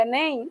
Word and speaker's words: Enem: Aqui na palavra Enem, eu também posso ler em 2 sílabas. Sílaba E, sílaba NEM.